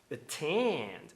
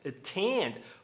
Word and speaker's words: attend: Attend. Attend. Por que que eu não posso pronunciar end? Arend fazendo tap. Porque a segunda vogal não é átoma, é tônica, ela tem força.